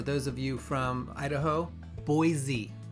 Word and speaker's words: Boise: For those of you from Idaho, Boise. Z. They don't like it when you pronounce it that way.